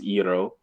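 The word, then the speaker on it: Iroh: will be pronounced on and iro will be pronounced eero i know but those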